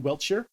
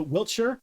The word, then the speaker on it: Wiltshire: what a stone Stonehenge yeah Stonehenge is in Wiltshire and it is and I'm sure I'm just going to do all the takes because there is never a correct way to pronounce any City in Britain so Wiltshire Wiltshire wiltsher uh Wild year yep um and